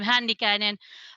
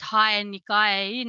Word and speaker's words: Hännikäinen: name because uh my family name handy cannon uh they were trying to pronounce it hai and nikaian and so for them it was easier to call me that's a good family